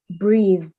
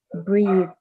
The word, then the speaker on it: breathe: Like for example, breathe. It's not pronounced as breath, but breathe.